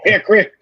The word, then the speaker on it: Hickory: welcome john reed from hickory that's right you guys you got something like this whatever for whatever reason we don't pronounce the o in hickory it's just haircut and then the little